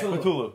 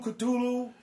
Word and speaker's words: Cthulhu: Yeah, Cthulhu. Yeah. Cthulhu or Cthulhu? Cthulhu. Yeah, Cthulhu. I'm going that Yeah. way. You can hit the T hard if you want.